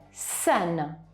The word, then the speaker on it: scène: Abbiamo anche il suono SCE, questa sequenza SCE darà vita dovremo pronunciarla scène, la scena, la scène, scritto in questa maniera qui.